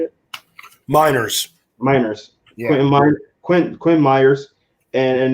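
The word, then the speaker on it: Meinerz: Miners.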